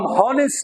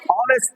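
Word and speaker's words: honest: ये साइलेंट है, ये एच साइलेंट है। हम हॉनेस्ट नहीं पढ़ेंगे, हम क्या पढ़ेंगे? ऑनेस्ट पढ़ेंगे।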